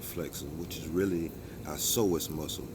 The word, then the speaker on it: psoas: If we have tight hip flexors, which is really our psoas muscle, PSOAS, pronounced SOAZ, it makes us have tight hips.